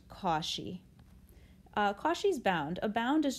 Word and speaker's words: Cauchy: hear his name again definitely but it is pronounced kashi kashi's bound a bound is just like an